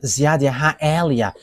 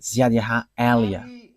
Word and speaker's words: Yahvah Eliah: is my name, so I pronounce it as my father pronounced it, YAHVAH Eliah.